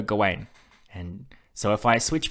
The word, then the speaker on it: Gawain: But this movie said Gawain, and I didn't like that. Gawain, with the way it's spelt, doesn't seem right. I prefer Gawain.